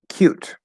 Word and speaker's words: cute: So, like a schwa with a little bit of lip rounding. Cute, cute, cute, cute. Okay. What I would call the full pronunciation, how you're supposed to say it, if you enunciate nice and clearly, no. There's no schwa, there's no lip rounding.